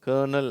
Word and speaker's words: colonel: COLONEL, அது கர்னல் அப்படின்னு தான் உச்சரிக்கணும்.